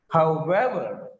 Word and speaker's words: however: If the word has ever, self, selves as second element, the second element takes stress. Look at here. However, ever is the second element in this compound word. That's why. However, whatever, whenever, whoever, herself, himself, myself, themselves.